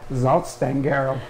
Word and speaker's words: Salzstangen: These are salt sticks, but if you'd like to have the actual perfect German pronunciation, it's Salzstangen.